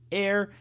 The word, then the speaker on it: heir: interessante esse be water Air é uma das poucas palavras a em inglês que apesar de começar com h não se pronuncia vou daqui um né